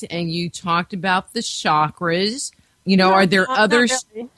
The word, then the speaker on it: chakra: it is not spell it is not spelled or pronounced Shakra there's no such word in the uh Sanskrit language as chakra it doesn't exist these are chakra chakra that's how you pronounce